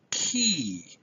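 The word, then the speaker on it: chi: how ooop salon fee key that letter that looks like an English X is pronounced key Z and the last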